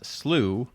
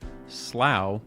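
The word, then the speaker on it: slough: fun to say now this word is apparently both defined and pronounced differently depending on the region of the world that you're in and it can either be said as slooh slow or if you're English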